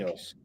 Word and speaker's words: dos Anjos: Now, Rafael dos Arias, is that how you pronounce it? Rafael Dos Anjos, I think. Dohanos. Yes.